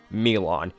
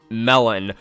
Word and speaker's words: Melon: killing elephants in rooms, Milan. Yes, I know his name is pronounced Melon, but I'm not taking the psychopathic serial killer seriously when he's named after food.